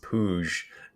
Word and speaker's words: Puig: Puig is pronounced Pouge. I wonder why. Pooge.